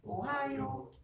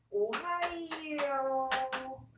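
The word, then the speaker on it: おはよう: 오하요 할 때 이라는 입 모양으로 살짝 갔다 오거든요. 그래서 이거 진짜 오바 아닌데요. 정말 한영이고 대원해봐 아이들이 이 쉬운 거 단순 암기인데 오하이오라고 쓰고 틀려요. 이 발음 없어요. 몇 박자라고? 네 박자입니다. 자, 한 번 더 읽어볼게요. 오하요 이렇게 해야 돼요.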